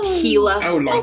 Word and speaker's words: Gila: monster well it's Tech it's spelled like Gila g i l a but it's pronounced heila that yeah it's it's a common mispronunciation people be like oh the Gilla monster no it's not